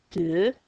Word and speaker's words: deux: Un, deux, silent x.